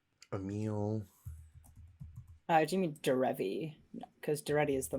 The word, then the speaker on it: Derevi: We got the Island, Duretti, Emil. Do you mean Derevi?